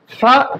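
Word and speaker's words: فاء: ফা একটা নরম হরফ, একেবারে শক্ত করা যাবে না, আবার সিনের মতো উচ্চারণ করা যাবে না। আমাদেরকে কি করতে হবে, ফা উচ্চারণের সময় এই যে সামনে যে 2 দাঁত আছে, এই যে এই 2 দাঁতের আগা এবং জিহ্বার আগাটা আমরা নিয়ে নিব, নিয়ে আমরা সুন্দর করে উচ্চারণ করব। দেখেন, নরম করে ফা, ফা, ফা।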